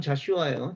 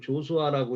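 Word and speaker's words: Joshua: 이게 이제 미국식으로 하면 자슈아예요. 자슈아가 그 한국 사람들한테 이렇게 하니까 어떤 사람이 조수아라고 읽던데 조수아든 자슈아든 이게 여호수아예요.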